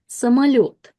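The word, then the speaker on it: самолёт: But O, when it's not stressed will be pronounced as a.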